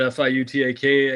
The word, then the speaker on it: Fiutak: Fiutak, as it's spelled, like nobody can spell it, but Fiutak, and College Football News on the X machine.